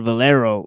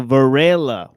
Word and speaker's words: Varela: Varela. I said Valero, right? So, Varela, right?